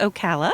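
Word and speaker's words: Ocala: find her as simply stitching Okala am I pronouncing that even right okay it's Okala Okala Okala see I'm not a Floridian so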